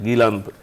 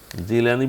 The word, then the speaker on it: গিলানী: যে গিলান গিলান প্রদেশ জিলানী বলি না জিলানী যেহেতু ইয়ার মধ্যে গাপ নাই গাই আরবিতে জিমটাই হলো গিলান মানে জয় জি ইংরেজিতে জি যেটা আছে আরবির জিম উচ্চারণ তো ওখানে আরবিতে জিলানী বলা হয় কিন্তু আসলে উনি গিলানী আব্দুল কাদের গিলানী গিলান